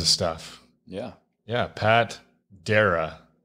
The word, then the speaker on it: Darrah: Yeah, Pat Darrah, right? Correct pronunciation?